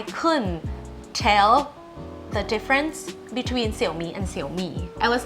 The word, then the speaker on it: Xiaomi: So I was trying to avoid all intonation to avoid this mistake because in English it would just be Xiaomi.